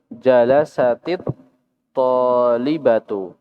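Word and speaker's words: جلست الطالبة: Jalasat at-talibatu itu kalau bacanya terpisah. Ketika disambung jadinya jalasatit talibatu. Jalasatit talibatu. Kenapa? Karena ada dua sukun yang bertemu. Ada dua sukun yang bertemu. Maka kemudian yang awalnya dikasrahkan.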